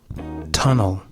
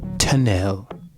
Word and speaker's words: tunnel: hallway tunnel tunnel this is especially for my Japanese ESL students it's pronounced tunnel not tunel tunnel tunnel ending sound o e l o tunnel great great